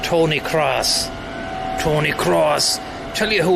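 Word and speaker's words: Kroos: It's Cross. I think it's pronounced Tony Cross.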